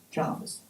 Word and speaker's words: Jervis: But all I know is that Jarvis, our Jarvis, Earl St Vincent, was pronounced Jarvis.